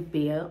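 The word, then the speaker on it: Baeyer: So these are the Bayer frames. It's spelled B-A-E-Y-E-R, and I know for a fact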